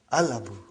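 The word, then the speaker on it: الأب: So without anything in front, I will pronounce it as Al-Abu. I will pronounce it as Al-Abu. So I did pronounce Lam.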